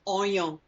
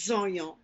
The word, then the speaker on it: oignon: Les oignons, the onions. But a lot of people will say, give me 1 oignon. Give me 2 oignons. The Z sound comes from the L-E-S in front of the word.